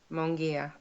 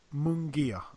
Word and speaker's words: Munguia: Munguia. Munguia, okay.